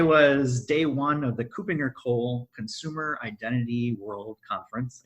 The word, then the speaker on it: Kuppinger: that's a mouthful yeah good job pronouncing it copinger copinger not CER which I've said before CER so but yeah it's co copinger as I learned today so already a